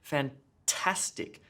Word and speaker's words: fantastic: first syllable in robot fantastic fantastic emphasis on the middle syllable their task gets the